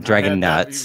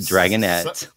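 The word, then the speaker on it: Dragonette: Dragon nuts dragonet oh oh not Dragon nuts dragonet summertime gets about 110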